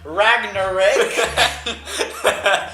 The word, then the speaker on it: Ragnarok: poem, Paul rudely interrupted me and said, "It's pronounced Ragnarok."